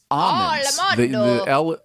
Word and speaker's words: almonds: And the nut that is spelled ALMONDS almond is actually pronounced almonds. The L is silent, and I that is something I've only learned recently, so I wanted to pass that out.